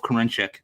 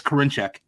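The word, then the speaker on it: Karinchak: enamored rightfully so of courenchik right michael i'll say it's karinchek that's how you say it thank you but um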